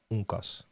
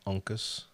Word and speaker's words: Uncas: One of those Indians, Native Americans, is called Uncas. I think they pronounced it Uncas, but my parents saw it. They read that name. They said Uncas, and that became my name.